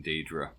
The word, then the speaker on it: Daedra: I do wonder whether it's meant to be Daedra rather than Daedra. Usually the AE spelling would make a long E sound. Everyone seems to pronounce it Daedra, though.